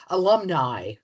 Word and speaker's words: alumni: letter I yeah alumni which in English in English it's alumni in Latin it would be alumni but anyway English speaker